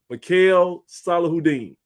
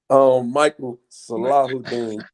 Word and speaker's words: Mychale Salahuddin: chance to go through this, but hopefully I pronounced this correctly. Let me bring in our starting rover this year, Mr. Mikhail Salahuddin. Hey. How did I do? Is that close? Michael Salahuddin.